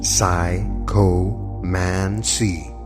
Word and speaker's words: psychomancy: of psycho men see the term psycho Mansi pronounced psycho Mansi is derived from two